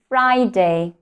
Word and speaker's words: Friday: is long I Friday Friday yes we actually don't put the stress to the words day the primary stress is on the first syllable try again Monday Tuesday